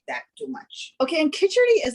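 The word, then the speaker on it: খিচুড়ি: Khichuri.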